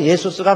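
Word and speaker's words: Jesus: 근데 이게 영어권에 와가지고 그 제의를 발음을 하죠. 그래서요, 원래 헬라어로도 예수스가 맞아요. 우리 한국말이요, 더 정확합니다. 예수 그러면 되는 거예요. 근데 이게 영어권에 와갖고 지저스가 됐어요.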